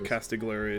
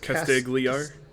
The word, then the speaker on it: Castigliar: kitcher's inlet right yes which is where uh castigler is or uh it's pronounced castigliar the g is found yeah they're right oh